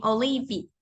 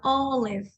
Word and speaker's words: olive: de la palabra Olive Olive termina en v pero no decimos Olive ni olivi sino Olive cuando la e está al final de una palabra la e no se pronuncia muy bien Jordan sí